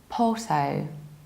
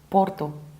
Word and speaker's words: Porto: In British accent we skip a r and we need to round the final O, even though in Portuguese they pronounce the city like Porto, Porto. But unfortunately in English we have to round this ending, even though it sounds a little bit strange. So that's why it's Porto.